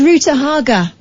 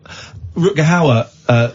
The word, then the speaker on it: Rutger Hauer: Alan, give us a call when you can pronounce his name properly. How's about that? I was in a restaurant in LA once. Rutger Hauer was there, as was Ruta Haga.